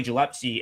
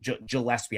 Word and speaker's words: Gillespie: Like Billy Gilpsy and his guards play really Gillespie, I always say his name wrong, too.